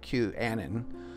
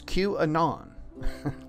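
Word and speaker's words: QAnon: otherwise you'll be corrected if you say Q Annan or Q an on it's cute anon as in anonymous okay so here's the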